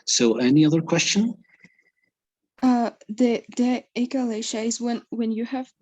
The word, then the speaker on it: achalasia: It's similar to this one, so it would be Achalasia. yes, achalasia. Great. You know the ch pronunciation is like a q, right? So it'd be achalasia.